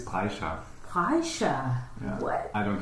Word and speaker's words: Brejcha: Pronounce it for me. Actually, it's Brejcha.